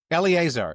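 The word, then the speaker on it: Eliezer: Eleazar. Eleazar. You know, do you know this character? No, but it's it's a biblical name. Eleazar. All right. Well, I I think that's correct pronunciation.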